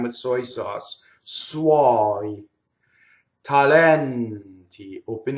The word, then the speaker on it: suoi: And then suoi. It goes by fast. Doesn't rhyme with soy. Doesn't rhyme with soy sauce. Suoi.